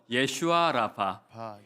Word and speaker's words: 예슈아 라파: 예슈아라파 예슈아라파 예슈아라파 예슈아라파 예슈아가 뭐냐하면 예수의 히브리식 발음이에요. 원래 예슈아예요.